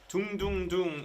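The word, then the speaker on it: 둥둥둥: Dung dung dung is how Koreans pronounce the sound of a drum.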